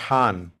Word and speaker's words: Han: back to that and in Turkish pronounced Han right um in abyssinia what's